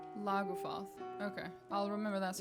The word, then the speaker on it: Lagufaeth: Laguath. Okay, I'll remember that's how you spell that.